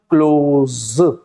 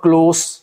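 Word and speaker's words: close: writing बिल्कुल same है लेकिन प्रोनाउंसिएशन क्लोज और क्लोज अगर क्लोज बोलेंगे तो इसका मतलब हो जाएगा बंद करना और अगर इसको हम बोलेंगे क्लॉज़ क्लोज़ बोलेंगे तो इसका मतलब हो जाएगा करीबी इसका मतलब हो जाएगा करीबी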